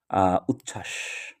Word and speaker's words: উচ্ছ্বাস: কাজেই এই ব এর কোন উচ্চারণ হবে না। ঠিক সেইমভাবে উচ্ছ্বাস।